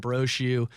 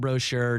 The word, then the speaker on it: Brochu: Brochu, remember, it's not brochure, no R-E.